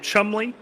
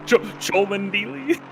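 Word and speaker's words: Cholmondeley: Cholmondili? Yeah, so the name is spelt Cholm. It's like it's spelt out phonetically Cholmondili. That's how you would read it phonetically.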